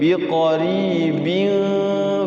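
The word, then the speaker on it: بقريب: Yang pertama itu rohnya tarqiq, dibacanya biqarib.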